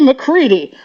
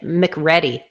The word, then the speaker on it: McCready: How do you feel about people pronouncing it McReady? Like what? That's not how they say it on the show, and I don't think I don't think that's how they say it in Scotland or Ireland either.